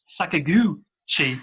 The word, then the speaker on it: Sakaguchi: So I'm sorry, I can't pronounce things sometimes. The word sack and gooch together just made me No. Sakaguchi.